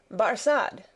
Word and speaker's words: Barsad: "Barsad," said Defarge, making it French by pronunciation. But he had been so careful to get it accurately that he then spelt it with perfect correctness. "Barsad," repeated Madame.